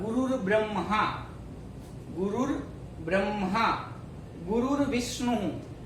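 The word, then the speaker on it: गुरुर्विष्णु: गुरुर विष्णु, यहाँ भी रेप दिया है।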